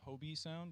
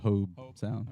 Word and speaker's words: Hobe Sound: grounds here down in is it hobie sound is that how you say it uh i've been calling it hobe sound yeah well jupiter area